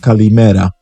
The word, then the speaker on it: kalimera: Today's good morning is in Greek, which is pronounced kalimera.